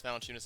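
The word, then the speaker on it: Valančiūnas: Jonas Valanciunas is the way you pronounce it, I'm pretty sure.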